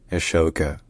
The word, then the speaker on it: Ashoka: Ashoka. Ashoka. Ashoka. Alright, if you enjoy learning about pronunciations, don't forget to subscribe to my channel for more pronunciation guides from around the world.